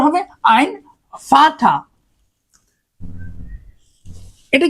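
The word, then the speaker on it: Vater: ফাটা ফাটা আচ্ছা এখন এই ভি এর যে উচ্চারণটা এটা কিন্তু পুরোপুরি ভি হবে না এটার হচ্ছে এফ এর উচ্চারণটা হয় কিছুটা এফ এর মতই তো আপনি কি লেখেন এটার উচ্চারণটা হবে আইন ফাতা এটা কি হবে এ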